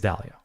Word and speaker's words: Dalio: don't know if i i always say his name wrong i think it's dahlia he's like yeah he was